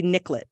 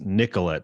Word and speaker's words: Nicolett: niclet right it's like gotta be niclet it can't be Nicolette it has to be niclet yeah that Nicollet Mall niclet Avenue like but of course Greg Nicolette is like yeah I don't say my name like that I'm like okay sure and even even if even if people do say that nickel let part of it it's it's Nick it's Nicolette it's not right exactly yeah